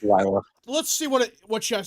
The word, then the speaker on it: Lila: It's Lila.